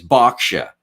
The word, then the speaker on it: Berkshire: post I keep getting people from England saying it's Boxia. I'm like, well, it's B I R K, which I pronounce Burke.